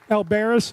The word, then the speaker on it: Albares: Laura, how do you pronounce your last name? Alberis, okay, all right.